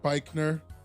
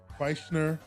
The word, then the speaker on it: Beichner: I'm trying to figure out how to say his name right. And his name is like Boehner.